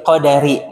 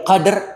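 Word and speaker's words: القدر: mana yang benar bacaannya Lailatul Qadr atau Lailatul qar itu dia sukun dalnya ya Qadr Qadr itu yang benar bukan Qadar Imam bacanyazalu lailattil Qadar Salah itu salah ya bacaannya suesungguhnya kami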